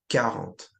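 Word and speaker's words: quarante: Again remember like I said last video make sure you don't pronounce the current like quarant right with the qu. It's just current.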